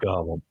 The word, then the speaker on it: Gollum: The Hunt for Gollum, however the fuck you pronounce it. And that's how I found It's out. Gollum.